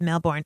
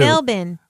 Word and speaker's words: Melbourne: and the State Library If Only They would say Australia instead of Australia and melbour instead of Melbourne oh no I've been saying it wrong me too melbin no listen I'm from